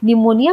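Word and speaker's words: pneumonia: NEUMONIA निमोनिया होता है, लेकिन निमोनिया पी से स्टार्ट होता है। तो पी से स्टार्ट होता है ये लोगों को नहीं पता होता है क्योंकि पी साइलेंट होता है।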